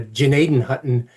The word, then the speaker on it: Gnadenhutten: One of the most vicious was the Gnadenhutten um or as they pronounce it in that area, Gnadenhutten uh massacre of 1782